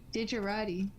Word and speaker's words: Digerati: Dig like the first part of digital. Dig. Rhymes with her. Digger. Why are we using that camera? Roddy. Digerati. It's like a Maserati, but different.